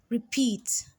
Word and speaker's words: repeat: to the second one repeat repeat you can hear this it has two syllables but the second syllable is stressed more than the first and this one is